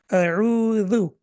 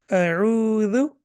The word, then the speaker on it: أعوذ: A'udhu. Now, if you prolong it and you make it dhu, that will be a mistake. A'udhu.